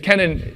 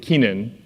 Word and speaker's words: Kenan: I don't even think we got it right, because Kenan is, most people would pronounce it Keenan in America, but at least it's pronounceable enough.